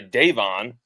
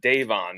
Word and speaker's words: Davon: You said Devon's coming back or sorry, Davon. Just so you know, everybody, it's pronounced Davon.